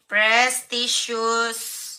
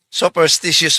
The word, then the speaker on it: superstitious: Ang tamang termino sa English sopstitious belief. Hindi po prestious belief.